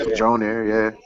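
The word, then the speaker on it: Mjölnir: I don't know how to fucking pronounce that. Mjolnir, yeah.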